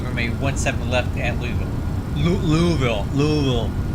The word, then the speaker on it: Louisville: Louisville. However they say it, Louisville. We don't say it like that in California, it's Louisville here.